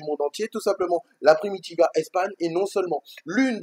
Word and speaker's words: Primitiva: Hein, prépare-toi, prononce comme moi. Allez, on va faire un peu les espagnols. C'est la Primitiva. La Primitiva.